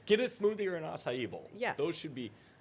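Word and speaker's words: açaí: get yourself an acai bowl and say it like that.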